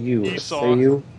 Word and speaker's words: Esau: Jacob said to his father, wait, how do you pronounce his brother's name? Esau.